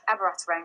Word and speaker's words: Abiraterone: I think you'll correct me if I'm pronouncing that incorrectly. Abiraterone, yes.